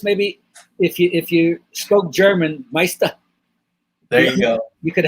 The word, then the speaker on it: Meister: Yes, you know, you can say Meisty if you want to because that's how it's spelled, but actually it's really the Meister without the R.